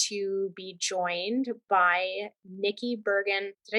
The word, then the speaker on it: Bergen: You want it to be Bergen, rhymes with virgin. It doesn't. It's Bergen, hard G.